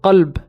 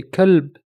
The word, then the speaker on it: qalb: For example, the word qalb means heart. If you can't pronounce the qa and you say kalb, you've just changed the meaning to dog.